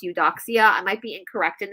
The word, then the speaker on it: Eudoxia: Her name, I think it's pronounced Eudoxia.